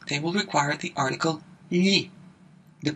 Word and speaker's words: gli: All of the other nouns, special consonant combinations, or vowels, they will require the article gli. The pronunciation of gli is a little bit tricky.